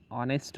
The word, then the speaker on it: honest: For example, an honest man. Edge of the word honest is silent here.